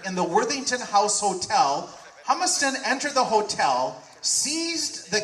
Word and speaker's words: Humiston: And in 1871, Professor Ransom Humiston, is that how you say it, Humiston?